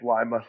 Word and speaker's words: Lima: Hey, when I was talking about Lima, Ohio, was I pronouncing that wrong? It's It's Lima, Steve.